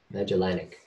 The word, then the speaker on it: Magellanic: at the large magic magic Mega genic cannot pronounce it magellanic yes you want to imagine any cloud um